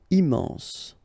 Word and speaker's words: immense: Final E not pronounced. Immense. Important.